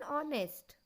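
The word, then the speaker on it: honest: जैसी होती है और कॉन्सोनेंट साइलेंट होता है। ऐसे अल्फाज के पहले भी एन का इस्तेमाल होता है। For example, an hour, an honour, an ऑनेस्ट।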